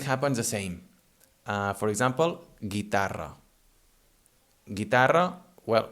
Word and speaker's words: guitarra: For example, guitarra.